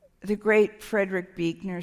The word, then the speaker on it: Buechner: I'd say Frederick Buechner is my favorite living theologian, but it's B-U-E-C-H-N-E-R, but it's pronounced Buechner.